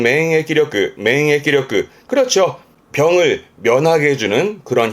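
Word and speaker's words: 免疫力: 발음은 맹해기력그. 그렇죠. 병을 면하게 해주는 그런 힘을 면역력, 맹해기력그.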